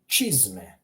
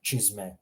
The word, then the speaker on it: čizme: Just imagine a CH in English. So čarape, čizme, that hard ch sound.